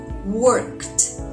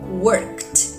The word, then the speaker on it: worked: it doesn't vibrate right so the D sounds like T worked worked let's check some other